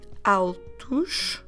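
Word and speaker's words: altos: get the masculine plural altouch so we're just adding s at alto altu although it ends at the letters o s our pronunciation should be ush and then for the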